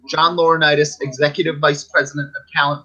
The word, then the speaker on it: John Laurinaitis: at one time and everybody's favorite corporate Sokka John Laurinaitis no he didn't say it right John Laurinaitis executive vice president of talent relations and in